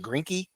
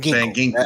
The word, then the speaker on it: Van Ginkel: You do replace it through free agency with what's that, Grinky? Am I right with Van his name? Ginkel. Van Van Ginkel.